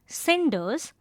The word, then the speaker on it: cinders: The poem uses the word cinders which is pronounced with a s sound.